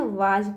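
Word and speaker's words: was: अब बच्चों यहाँ देखिए एक मतलब रूल है, जहाँ पे आपको ए एस दिखाई दे, ठीक है, तो वहाँ पे बच्चों स की जो मीनिंग होता है, जो उच्चारण होता है, वो ज के रूप में निकलता है, ठीक है।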